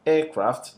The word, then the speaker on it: aircraft: And lastly, we say that compound will usually have the primary stress on the first element of the compound. So if I have aircraft, the stress is on the air. If I have bookstore, the stress is on the first one, book, and then the store is less stress.